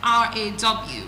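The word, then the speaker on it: roar: So it has this pronunciation with R A W.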